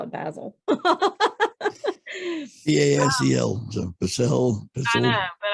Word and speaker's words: Basel: BASEL. So Basel. I know, but I thought you pronounced it different than I do.